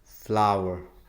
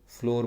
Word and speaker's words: flour: अ बैग of sugar, a बैग ऑफ फ्लावर. FLOUR. काफ़ी सारे लोग इसको फ्लोर बोलते हैं but this is नॉट फ्लोर, this is फ्लावर. आपको इसको ऐसे ही प्रोनाउंस करना है.